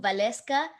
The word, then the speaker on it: Valesca: ? Vale, because my name is with W, so but it's pronounced with a V sound, so Valesca. So, but it's okay Oh, if you call me.